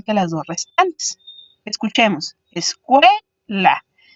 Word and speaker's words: escuela: Escuela. Entonces podemos visualizar que cue sería la sílaba que suena más fuerte, por eso está pintada en azul, y las dos restantes serían conocidas como las sílabas átonas.